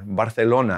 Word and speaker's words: Barcelona: She has lived in Barcelona, or Barcelona, as some people like to say.